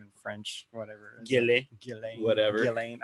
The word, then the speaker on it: Ghislaine: Jizzlane. I guess the S is silent.